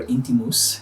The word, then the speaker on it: Intimus: very approachable so the next one is Intimus and or inky mousse if you want to give it the Latin pronunciation and obviously I went